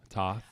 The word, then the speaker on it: Toth: Yeah, Toth. Just say it like Mike Tyson would say it. Toth.